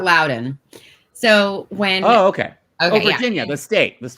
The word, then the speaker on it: Loudoun: Loudoun County is spelled Loudoun, but it's pronounced Loudoun, so that's a little weird.